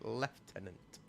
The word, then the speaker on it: lieutenant: You're you're going to say it's lieutenant, but yes, I'm saying it's lieutenant is is the spelling of it in the American sense, but you pronounce it left tenant.